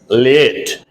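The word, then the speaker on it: layette: a y e double t e late the pronunciation is late l a y e d t e late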